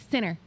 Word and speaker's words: center: He says it the West Virginia way. Center. Instead of being like the northern girl like I am, center, it's sinner.